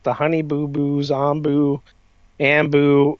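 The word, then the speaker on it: Anbu: Honey Boo Boos, Ombu, Ambu. If you haven't seen Naruto, it's Ombu.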